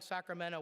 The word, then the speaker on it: Sacramento: I have found that once people start pronouncing Sacramento without the T, they're hooked.